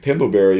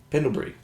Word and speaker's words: Pendlebury: Pendleberry always kills me. Who's that on me or you? I don't know. You say it now. How do you say Pendleberry? Pendlebury.